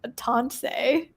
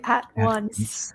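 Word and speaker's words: AtOnce: When I saw the name of the original company, I pronounced it Atonse, but it's actually at once.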